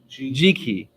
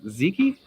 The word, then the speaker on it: Ziki: Try going through life with Ziki, that is pronounced like Jiki. Oh, is it really Jiki, not Ziki?